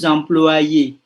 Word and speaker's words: employés: Tapi kalau kami adalah karyawan, kami adalah pekerja, kami itu lebih dari satu, donc on rajoute quoi? S. Nous sommes employés. Tapi S-nya tidak dibunyikan tentu saja ya.